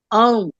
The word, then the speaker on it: Om: it should be pronounced as Om.